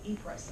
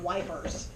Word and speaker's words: Ypres: The British made fun of the name of this Belgian town by calling it Wipers. If you look at the way it's spelled, it's Ypres.